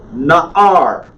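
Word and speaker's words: נער: Na'ar. Na'ar. Hear how that ayin is kind of a stop? Na'ar. Na'ar. Ah, I see. That is, Na'ar is a boy, a youth. Na'ara. Na'ara. Na'ara. Not Na'ara.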